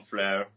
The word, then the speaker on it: Frey: So Frey, I call him Fleur, which is more Danish and Swedish pronunciation.